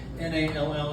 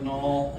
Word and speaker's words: Nall: Nall. It's like Nall. It's like Hall, Ball, Fall, Call.